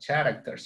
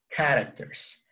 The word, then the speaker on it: characters: It's not characters, it's characters, characters, okay?